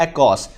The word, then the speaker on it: ACOS: सबसे अहम जो टर्म मेरी नज़र में होती है वो होती है एकॉस। इसके स्पेलिंग होते हैं ACOS।